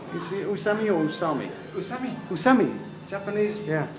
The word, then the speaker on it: Usami: Usami. Usami. Japanese. Yeah. Japanese pronunciation. Never long.